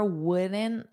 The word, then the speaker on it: wouldn't: My car wouldn't start this morning. This is a car problem. Remember, my car wouldn't. So, just you don't need to pronounce that T. You can just do a flap T.